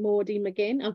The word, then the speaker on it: Maudie McGinn: So, you've got a new book to talk about today, The Fire, The Water and Maudie McGinn. Am I pronouncing that right?